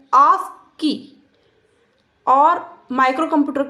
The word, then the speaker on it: ASCII: इसका प्रोनाउंसिएशन होता है ASCII और माइक्रो कंप्यूटर के लिए ही कॉमन स्टैंडर्ड होता है।